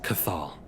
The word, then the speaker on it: Cathal: His name is Cathal. Cathal Madison. How do I spell that, him?